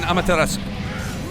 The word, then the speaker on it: Amaterasu: He had $20 bills saying, the U is dropped in Amaterasu. The U is dropped. Yeah, it's there, but it's got a hitch. It's very, very hard to hit.